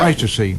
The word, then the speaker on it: Pleistocene: Pleistocene Park, is that the correct pronunciation? The Pleistocene, yeah. Pleistocene.